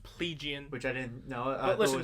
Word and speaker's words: Plegian: plaguing she's playing she's pleasian pronounced plegian which i didn't know listen calling it plegian is for the plebeians well that's kind of why i'm like that sounds more like plebeian anyway um katarina also